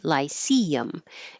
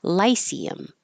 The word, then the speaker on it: lyceum: This could have stress and two different syllables, so I put it on two different lines because if the stress is in the middle, the vowel is E, lyceum. If the stress is on the first syllable, lyceum, it's I, lyceum, but both are totally fine, whichever one you prefer.